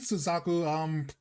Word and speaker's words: Suzaku: Oh wait, also I said Genbu and Suzaku correctly, you know? I'm not mispronouncing it.